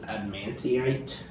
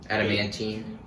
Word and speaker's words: adamantine: I just thought like maybe give it like I always mispronounce it adamantite. Adamantine. Adamantine, yeah. That like you know adamantine what it's for, which is stupid by the way.